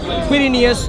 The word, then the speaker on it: Quirinius: Cyrenius. That's a Q. Quirinius, Cyrenius. Pronounce as you please.